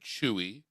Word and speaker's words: Chuu: So it's actually CHUU. Chew.